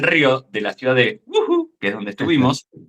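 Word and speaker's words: Wuhu: de la ciudad de Uu, que es donde estuvimos. Se escribe w u h u y es wu.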